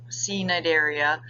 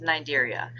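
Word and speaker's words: Cnidaria: about it's phylum nigeria yes the sea is silent um so it's not c nidaria it's just nigeria these guys um you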